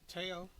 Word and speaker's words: Theo: Teao.